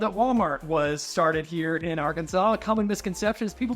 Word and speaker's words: Arkansas: It's legally, since the late 1800s, pronounced Arkansas. There was a discrepancy between 2 attorneys on how it was pronounced versus how it was spelled. It's legally pronounced Arkansas, not Arkansas, nor is it even I had to bleep